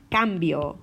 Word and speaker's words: cambio: means one hundred cien however if I have a C followed by a consonant like an R or an L or a vowel such as a o or you then I'm gonna have my hard cook sound pour a hemp low